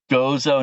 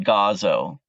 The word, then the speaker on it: Gozo: I know you said that there's another rock band that's making some noise over and if I'm pronouncing your country wrong, it's Gozo, not Gazo.